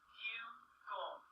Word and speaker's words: bugle: And since the E is silent, you do not tap that sound out either. This is bugle.